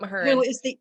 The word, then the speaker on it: Mahurin: Am I pronouncing it right? You are. Yep, Mahurin.